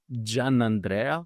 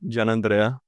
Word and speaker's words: Giannandrea: track well I'll um let's say with the Italian pronunciation yeah do it I want to I want to perfect it man I'm GNA get it right okay so uh Jan Andrea Jan Andrea jamano jamano J Andre